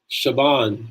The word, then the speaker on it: Siobhan: So it's like Shaban. It's spelled Siobahn or something like that.